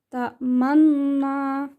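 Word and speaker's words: تَأْمَنَّا: Ta'manna. Itu cara membacanya dengan cara mencampurkan bacaan dhammah dengan bacaan sukun disertai dengan gerakan mulut yang dimajukan saat mengucapkan huruf U.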